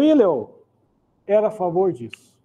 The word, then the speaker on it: Hillel: O Hillel, alguns pronunciam Hillel, que era o avô de Gamaliel, que depois ia ser o professor de teologia de Paulo.